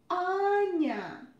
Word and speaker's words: Anya: our transition rule and a short version is anya anya here you can see just one and so you pronounce it shirt on anya shirt the next word